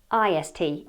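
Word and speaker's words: -est: the pronunciation here because even though is spelt est it is pronounced ist East East tallest smallest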